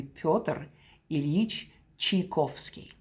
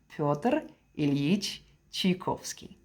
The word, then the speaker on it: Pyotr Ilyich Tchaikovsky: If you want to pronounce it correctly in Russian way, it would be Pyotr Ilyich Tchaikovsky. So hopefully that was helpful. I'm going to say it again, Pyotr Ilyich Tchaikovsky.